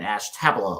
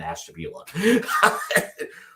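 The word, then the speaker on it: Ashtabula: We also have Medina, Ohio, and Ashtabella, Ohio. I'm kidding. It's Madina and Ashtabila.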